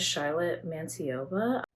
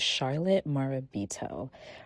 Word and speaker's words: Charlotte Marabito: I want to say her name is Charlotte Mantiova. I completely said homegirl's name wrong. It is Charlotte Marabito.